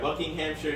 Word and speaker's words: Buckinghamshire: ] platinum no you're a book named yeah buckinghamshire england near london where most of the james